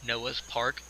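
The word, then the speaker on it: Noah's Park: thought this was funny Noah's part kind of like Noah's Arc rhymes with Noah's Arc okay moving on of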